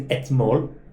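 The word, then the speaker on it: אתמול: The normal way to say yesterday is etmol. That's how you say it, right? But in you say yesterday and the day before, you often take out the aleph.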